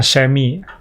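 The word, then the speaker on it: Chamois: dapat ya ya ini namanya semy tulisannya chis itu bacanya shy ya semy butter ini ini bisa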